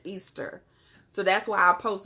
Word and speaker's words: Ishtar: it's tired hurt so the way that you pronounce that is Easter so that's why I